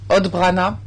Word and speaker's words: odbrana: exemple mot pour défense qui en croate se prononce obrana et en serbe odbrana vous pourrez trouver la